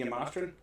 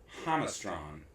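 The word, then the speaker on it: Jamastrán: She said in Honduras it's pronounced Hamastron. Hamastron. Okay. Hamastan with the accent on the first syllable.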